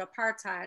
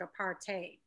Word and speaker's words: apartheid: And I call it apartheid. I'm hearing throughout the documentary, they pronounce it apartheid. Right, it depends. Either one is fine.